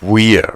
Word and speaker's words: Wear: upon t t and Weir right it's Weir not it's not not like wear and tear but it's ttin and weird thank you what also